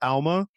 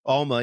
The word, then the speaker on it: Alma: So you help run, it's pronounced Alma, right? Alma. Yep. Alma, yeah.